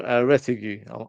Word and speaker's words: Retegui: Now, this is the one that a few people in the chat have mentioned is Matteo Retegui. I'm sure that's how you pronounce his name.